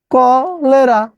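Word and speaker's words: cholera: কলেরা, কলেরা, কলেরা, হচ্ছে কলেরা। ক, সি হচ্ছে ক, লে রা।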